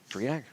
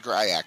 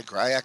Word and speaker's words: Gryak: Griak? No, she said, did we say Griak? She said Gryak, the public address announcer.